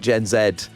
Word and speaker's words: Gen Z: I think I don't think I think Gen Zed. It's not. I think it's mainly Gen Z. We say zed. We're British. I think unfortunately the young people of Britain have adopted the American pronunciation.